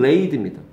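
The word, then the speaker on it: laid: 세이드라고 하면서 너무 안타깝습니다 요거는 레이드입니다 얘는 레드 아니에요 단어마다 발음이 다르니 쓰는 거 아닙니까 이건 레이드라고 하고 레드라고 안 해요 근데 얘는 세이드라고 안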